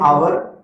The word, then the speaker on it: hour: An honorable man, an hour, an heir.